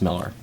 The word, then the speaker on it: Millar: Mark M's I'm sorry Miller spelled Millar pronounced Miller this was his uh